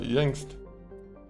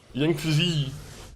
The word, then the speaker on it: Yangtze: Oh, we could go to Amazon, or we can go to Yangst. I think that's how you say it, right? Yangtze. That's how you actually say it.